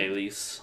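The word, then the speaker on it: Nélisse: Nellis. Thank you. The younger girls Nellis, in Yellow Jackets.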